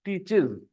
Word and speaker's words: teaches: were saying teach teach it's not teachs it teaches all right yeah next uh